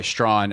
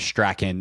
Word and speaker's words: Strachan: Yeah, by the way, Strawn, what we had previously been saying is Strachan. That's how it's spelled. Apologies to Michael for not knowing the pronunciation up to this point. But Bram if you hear Strawn, Bram hooked it up with the pronunciation guide.